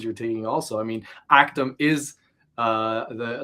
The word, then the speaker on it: ACTUM: ACTUM, not Yes, that's ACTUM.